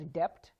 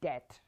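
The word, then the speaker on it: debt: So it's t, it's walked, and then this is not pronounced as dept, it's pronounced as det, okay?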